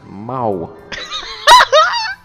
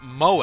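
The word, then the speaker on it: 萌え: It's exceedingly Mo. Like Mo from The Simpsons. Like Mo from Wall-E. Okay. You know, the cleaner so- robot? So I looked this up, and that word is apparently pronounced moe, and it means cute.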